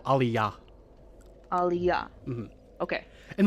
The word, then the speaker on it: aliyah: Wait, just more emphasis on the final syllable, aliyah.